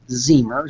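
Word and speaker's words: Ziemer: It's Zemer, Z-I-E-M-E-R, rhymes with Beamer.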